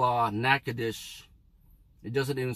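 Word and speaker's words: Natchitoches: one city called uh nakadish it doesn't even spell it the way it should spell but it's just it has a strange spelling but it's because of french pronunciation you would pronounce this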